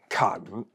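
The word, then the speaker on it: 坎: symbolizes a river flowing through it this is pronounced can can symbolizes river water and danger most importantly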